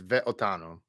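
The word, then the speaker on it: ואותנו: So that's, we have the sheva under the vav there. So it's ve'otanu.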